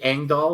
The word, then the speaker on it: Engdahl: me uh on Amazon the last name is uh kind of weird it's Swedish so it's spelled in a way you probably wouldn't imagine it's e n Diaz